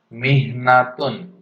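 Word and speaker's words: مِحْنَةٌ: Mihnatun. Mihnatun. Silahkan diucapkan berkali-kali, 5 kali juga tidak apa-apa ya.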